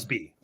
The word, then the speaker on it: Busby: Was it Bugsley Berkeley? I'm saying his name wrong. Busby Bugsby. Berkeley. Bugsby. It's like Busby.